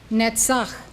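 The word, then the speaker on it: נצח: Netzach, triumph.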